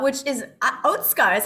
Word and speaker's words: Otsuka: surprise of learning that atsuka is really pronounced oatsuka i mean there's a